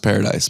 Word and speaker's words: Paradis: at the end of paradise i promise it's pronounced paradise but it is not spelled with the e8 it is french it